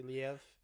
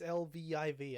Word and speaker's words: Lviv: I'm just gonna say Liev. That's not how you say it, but Viv. It's Lviv.